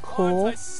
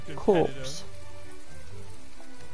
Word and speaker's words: Corps: And it's pronounced core, not corpse.